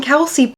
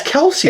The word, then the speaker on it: Kelce: wrong but we're not it's Kelsey right Kelsey Kelsey yes it's not Keli or anything right no it is Kelsey or kelsa or something right Kel all right I